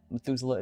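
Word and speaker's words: Methuselah: Even though I think that Methusela is kind of spelled spelled like the way that you would sound it out.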